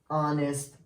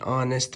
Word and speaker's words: honest: A or an honest man? Jack is an honest man. Why did you choose an? Because honest begins with a vowel sound and it's also a silent H.